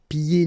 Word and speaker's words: pieds: Okay, so you don't hear the D. Pieds nus.